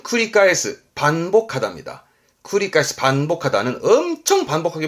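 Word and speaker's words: 繰り返す: 그러니까 실을 감고 돌이켜 또 감고 또 감고 또 감고 하는 발음은 쿠리카에스 반복하다입니다.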